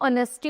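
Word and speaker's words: honesty: तो जो ऑनेस्टी और ऑनर है इनमें क्या है? एच साइलेंट है। ओ साउंड से ओ साउंड आ रही है।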